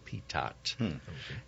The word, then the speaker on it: Pitot: you prefer your name how does your family want its name pronounced and he said pitat and so you know